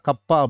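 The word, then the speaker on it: kappa: அதாவது இந்த கேவியை கொஞ்சம் இழுத்து வச்சுருவோம். சரிங்களா? இதுதான் கப்பா அப்படின்னு நம்ம ப்ரொனவுன்ஸ் பண்ணணும். கப்பா இஸ் ஈக்குவல் டு 1/ρ.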